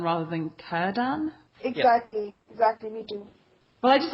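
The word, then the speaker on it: Círdan: of strange to me all the c's are supposed to be pronounced it was weird i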